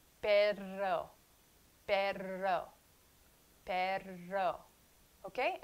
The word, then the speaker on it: perro: So don't substitute the inability to roll your R's with the R of English. Substitute it with the soft they of Spanish. The. Perro. Perro. Okay? Perro, perro, perro, woof, woof, perro.